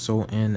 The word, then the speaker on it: Samhain: change the dates because samhain pronounced so in as is a samhain oh no pronounce so in oh so when is